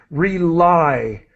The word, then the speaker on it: rely: Rely. That Reliably.